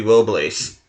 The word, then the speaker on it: Robles: Actually, since he's Spanish, I think it's supposed to be Robles. So, I should actually pronounce it Robles.